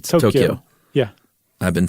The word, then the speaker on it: Tokyo: how about that or I should say Tokyo I I've been saying it wrong Yumi says it's Tokyo yeah I've been saying